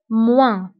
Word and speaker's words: moins: فانتبهوا بالنسبة للموا كنكتبوها بأس في آخر الكلمة ولكن لا تنطق moins. قسمة une division مقسوم على divisé par الخارج le quotient والباقي هو le reste.